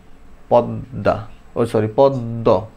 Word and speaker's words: পদ্ম: আচ্ছা, যদি মাঝে অথবা শেষে মফলা যুক্ত হয় শব্দের, তখন যে বর্ণের সাথে মফলা যুক্ত হবে ওইটা দুইটা উচ্চারণ হবে, দ্বিত্ব হবে উচ্চারণ, রাইট? গ্রীষ্ম, পদ্ম, ছদ্ম, রাইট?